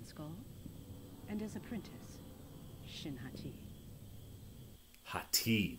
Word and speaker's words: Hati: and as apprentice shinhati hot tea that's how you say it not Haiti Buffet yeah oh dude